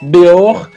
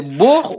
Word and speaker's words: Beaur: prononce bien votre nom c'est Bor ou Bor Bor il y a un accent Bor ah Bor ok excusez-moi excusez-moi d'avoir